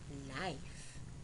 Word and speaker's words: knife: Knife, K-N-I-F-E, knife.